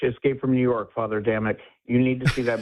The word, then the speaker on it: Damick: It's Damick. It's Damick, like night and day, Mick.